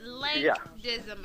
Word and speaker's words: Lank Dizzim: we were talking about the pronunciation of your name it's link dim everybody link you can